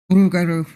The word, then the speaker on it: Garou: Lego kangaroo. That's not the correct pronunciation, but yeah. That's a children's book. Lego, Roo. Garou.